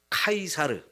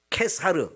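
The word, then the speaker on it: Caesar: 성경을 번역하면서 가이사라 번역했는데 영어나 이제 헬라어로 보면 이게에 카이사르 케사르 요런 식으로 발음되는 단어인데요 요거를 우리말로 번역할 때 가사라고 했어요 가이사 그 말 는 로마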